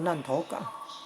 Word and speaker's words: 坔頭港: 做地了，实际上应该念作烂头港，这样比较接近那个闽南语的音呢。烂头港，也有人